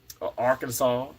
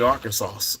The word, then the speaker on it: Arkansas: I used to say Arkansas okay CU you know I'm Mississippi but you know as I as I've grown I know that that s is silent but thank you so